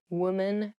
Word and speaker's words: woman: not women's or wom even though the uh the singular and the plural form of women and women have the same spelling at the beginning w m the pronunciations are different woman women so watch out for that when you say